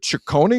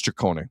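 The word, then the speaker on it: Cecconi: And on Sunday afternoon, Slade, is it Ciccone or Ciccone? I think it's Ciccone. I think it's a hard C.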